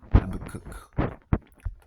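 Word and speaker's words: Habakkuk: And this is why uh Yahawah Bahashim Yahawashi Yahawah he he you know he warned us through prophet Habak Habak Habak or Habak pronounce it Habacook prophet and uh verse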